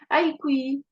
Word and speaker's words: Aïkoui: Comment tu le prononces Ah, d'ailleurs? merci. Aïkoui.